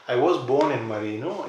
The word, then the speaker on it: Marino: and you are from, let me say it right, Marino. I was born in Marino.